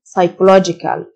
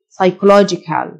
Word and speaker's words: psychological: minor unnecessary unnecessary نفسي psychological الP silent psychological mental mental جسماني physical